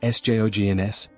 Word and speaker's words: Sjogren's: Sjogren's disease, spelled S J O G R E N S, pronounced Sjogren's, is an autoimmune disorder.